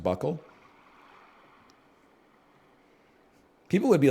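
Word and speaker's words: buccal: removal and we all look like this it's pronounced Buckle people would be like you look really good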